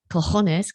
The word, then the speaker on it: cojones: Cojones, claro. Have I pronounced it correctly?